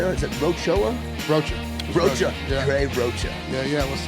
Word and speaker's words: Rocha: Rocha.